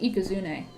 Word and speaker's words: Ikazune: do you pronounce ikazune I pronounce it ikazune like e not k e kazun like it's it's a c it's like cuz Okay so with ikazune